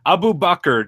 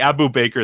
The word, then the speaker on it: Abubaker: gonna pass your name yeah that's that's the way you pronounce my name like in the Muslim way and so I decide I just the Abu Baker thing is just for the joke so clearly just yeah